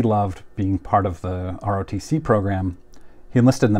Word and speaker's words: ROTC: Junior ROTC program now when I was a kid I heard people pronounce this as a rotcy but I've I've since heard that this is kind of pejorative so I'm going to stick with the pronunciation of ROTC again tell me if